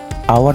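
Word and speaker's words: hour: কারণ হচ্ছে আওয়ার আর অনেস্টের ক্ষেত্রে আমি এইচটা সাইলেন্ট রাখি, তাই তো? মানে আমি ও দিয়ে উচ্চারণটা শুরু করছি, আওয়ার, অনেস্ট।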